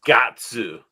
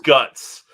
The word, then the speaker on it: Guts: It's Gatsu, but yes, but it's guts in the English. But yes, it is technically Gatsu.